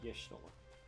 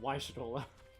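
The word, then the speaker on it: Y'shtola: What about Ishtora? East Shroud. Close enough. Besides, it's Yishtola. Or, depending on how you think I've the been doing first it letter wrong. of Makote name should be pronounced, Waishitola.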